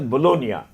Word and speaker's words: Bologna: Uh so that the Bologna which is famous for legal studies I think it's pronounced as Bolognia. G is silent.